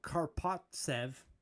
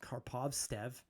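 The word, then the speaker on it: Karpovtsev: 2004 we acquired Alexander kpev I mispronounced karpov stev karpov Sev my God that's hard to do the V and the T for uh what was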